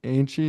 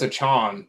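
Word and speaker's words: Achane: know the my Devon Anie. Is that how you say his name? I think it's Achon.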